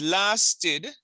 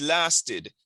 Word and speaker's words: lasted: So it is lasted. It's not lasted, you know. It's well. The ed in this case is really supposed to be pronounced as id. So it's lasted, but most people say lasted, but it's really lasted.